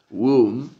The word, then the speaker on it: womb: Una es la palabra womb, womb, womb. Se escribe W-O-M-B larga y se pronuncia womb, womb.